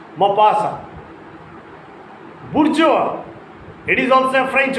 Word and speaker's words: bourgeois: Maupassant, A-N-T is unpronounced. Maupassant. Bourgeois, it is also a French word.